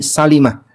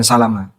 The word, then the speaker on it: Salimah: Ada satu kampung yang dihuni oleh Bani Salimah. Kampung Bani Salimah yang lebih tepat bacanya Salima bukan Salama.